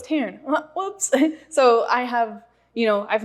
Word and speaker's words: Tairn: Well, so since I was doing the audiobook, like obviously everything's pronounced correctly. Right. But Tairn? Okay, is it spelled Tarin? Tairn.